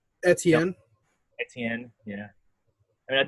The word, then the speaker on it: Etienne: You got fucking Itney. However you say his name. Etienne.